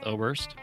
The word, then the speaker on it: Oberst: guest on his name is dr ober oberst dr oberst did i pronounce that correctly you did yeah so as